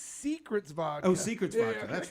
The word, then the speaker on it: Seacret: It's Secrets vodka.